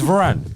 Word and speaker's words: Varane: How do you I pronounce told it? you lot last time. It's Varane.